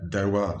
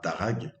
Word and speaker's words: Darragh: je précise justement que on prononce bien dalois c'est un comment dire un prénom irlandais à consonance gque on dit pas darag à la française et donc on voit